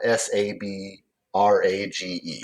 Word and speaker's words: sabrage: If you are engaging in sabrage, that's spelled s a b r a ge.